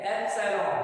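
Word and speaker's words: epsilon: ध्यान दें इसको बोलते हैं एप्सिलॉन, एक्चुअल प्रोनाउंसिएशन करें तो इसको क्या बोलते हैं एप्सिलॉन, है ना, इसको बोलते हैं सर एप्सिलॉन, ठीक है एप्सिलॉन, ठीक है।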